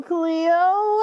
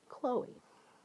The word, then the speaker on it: Chloe: Hello, Cleo. How's it going? Again, I think I just said your name wrong. Chloe.